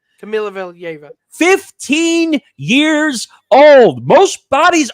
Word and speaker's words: Kamila Valieva: Nick told me how to pronounce the name. Her name is Kamila Valieva. I think is how you pronounce it. Camila Valieva.